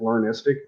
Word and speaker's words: Learnistic: It's actually a container app called Learnistic.